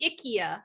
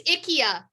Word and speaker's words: IKEA: wrong it's it's actually ikea and we just can't get over it really it's ikea that is how you pronounce it in swedish that is how it's